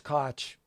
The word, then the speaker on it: Koch: that's gnarly yeah Ellers Koch rhymes with watch his last name by